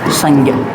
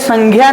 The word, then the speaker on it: संज्ञा: आपको बताया था कि यह संज्ञा नहीं होता संजा होता है क्या होता है संजा संज्ञा नहीं होता क्या